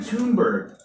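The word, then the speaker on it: Thunberg: her name correct Todd it looks like bird but we say it a little bit different we say to me bird Tim in bed Greta tuned bird right here she's 15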